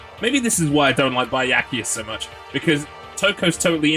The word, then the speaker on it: Byakuya: B-ya. So not Baya in any way. It's B. Byakuya.